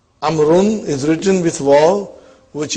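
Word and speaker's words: عمرو: six as you can see the proper name amaroon is written with wall which is not pronounced this is done to differentiate it from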